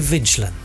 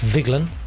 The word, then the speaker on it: Viglin: You said, I think we're going to Vigilin. Don't you think you should know by now it's pronounced Viglin?